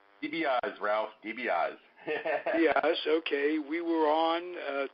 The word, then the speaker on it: DiBiase: I'm bringing back I rarely do this, DiBiase. Tobias, am I pronouncing that right? DiBiase, Ralph, DiBiase.